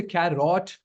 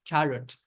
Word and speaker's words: carrot: For example, when I say carrot, I do not say carrot or I do not say carrot. It's carrot. So, you are basically dropping the O sound completely.